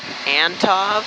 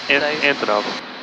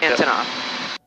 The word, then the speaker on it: Antonov: Either the Antov, I might be saying it wrong, but is it Antov? Antonov. Antonov.